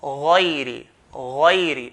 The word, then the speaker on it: غير: غين here is from the heavy letters there, from the heavy letters. So we have to pronounce it with heaviness, okay? By doing a full mouth, heaviness on the letter.